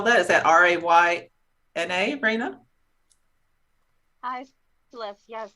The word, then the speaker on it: Rayna: How do you spell that? Is that R-A-Y-N-A, Raina?